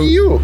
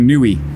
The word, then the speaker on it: NIU: So How do you say that? Well, James insists on murdering the name. So You. James insists on calling that a Nui. So that's wrong.